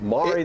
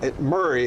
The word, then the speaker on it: Maury: It's actually, that's the way Murray is the way I pronounce it, but I'm not going to tell you how to say it, Pat. You say Maury, that's all right. Is that not the local pronunciation of it there? Murray. Wow. Murray is the way most of the locals say it.